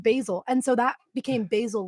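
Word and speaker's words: Basile: do you pronounce it mine is b-a-s-i-l-e and I pronounce it basil but almost everyone that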